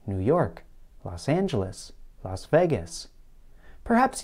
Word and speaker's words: New York: In general, Americans place more stress on the last word of a place name.